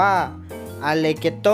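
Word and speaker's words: allegretto: g r e t t o อ่าน ว่า อัน เลโต้ หมาย ถึง ค่อน ข้าง เร็ว นะ ครับ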